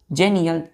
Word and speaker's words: xenial: तो एक्स को यहाँ जे पढ़ेंगे तो क्या होगा? जेनियल, XENIAL।